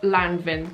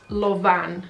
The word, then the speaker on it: Lanvin: It looks like Lanvin, but it's not. It's Lauvan.